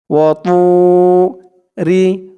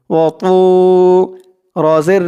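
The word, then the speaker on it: وَطُورِ: ওয়াতু, মুখটা একটু ভরপুর থাকবে এরকম মনে হবে। ওয়াতু, রজের রি, ওয়াতুরি, ওয়াতুরি।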